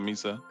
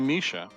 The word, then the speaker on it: Misa: What's up, Misa? Misa, do you prefer us calling you Misa, or do you want us to call you Misha? Since that's the correct. Well, that's the correct pronunciation, he said.